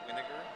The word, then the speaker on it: Winiger: It's pronounced vinegar, just like vinegar.